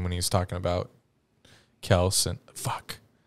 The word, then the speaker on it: Kelce: well that's how like they said that their name's pronounced Kels old Mahomes calls them